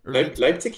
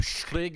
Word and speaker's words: Leipzig: is that how you say it germany leipzig leipzig yeah that's right i did have that one right so it's not like like like slig or anything like that got it all right